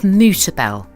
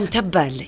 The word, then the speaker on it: mutabal: Now I love mutabel. Oh, mtabbal, yes. Yeah, how do you say it? Mutabal.